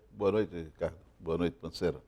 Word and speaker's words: Pansera: O correto é Panceira, mas o carioca colocou um acento no E e começou a falar Pancera.